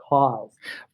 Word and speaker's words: KAWS: And I was like, if you say it without knowing how it's spelled Kaws. But if you say it, it says cause.